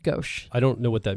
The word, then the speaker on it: gauche: word did you use gosh I think is actually how it's supposed to be pronounced gauche I don't know what